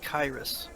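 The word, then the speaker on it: Kyras: It's pronounced Kairos.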